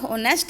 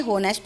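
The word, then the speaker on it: honest: जय is dash ऑनेस्ट child, देखो लिखा तो ऑनेस्ट है लेकिन ये होनेस्ट नहीं, ऑनेस्ट है क्योंकि H जो है वो साइलेंट है, तो एन ऑनेस्ट चाइल्ड।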